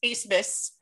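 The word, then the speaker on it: Abmas: talk about max a-b-m-a-s on your paper but pronounce a-s-m-a-s max acebes from moral roberts he is ace didn't miss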